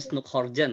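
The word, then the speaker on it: Snouck Hurgronje: ya bacanya Snoekhorgen ya.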